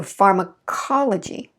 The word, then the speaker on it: pharmacology: syllable before low g so pharmacology pharmacology far ma right i reduce that to a schwa right before the stress